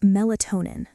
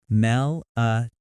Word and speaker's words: melatonin: What about melatonin? Mel-a-to-nin. The stress falls on toe, melatonin.